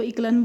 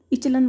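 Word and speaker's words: echelon: इसकी प्रोनाउंसिएशन पे मत जाना, कोई इसको इचलन बोलता है, कोई इसको इकलन बोलता है। अब इचलन बोलते हैं वैसे तो इसको।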